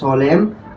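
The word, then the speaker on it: solemn: উচ্চারণ হবে কি দেম এটার উচ্চারণ হবে কি সলেম আর এটার উচ্চারণ হবে কি বলতো খন্ডেম আশা করি তোমরা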